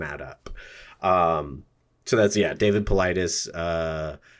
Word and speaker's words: Paulides: So that's David Paulides. I've heard people pronounce his last name Pilates as well. It's kind of how it's spelled.